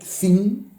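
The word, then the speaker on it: Kzin: Es K-Z-I-N, Zin, una cosa así.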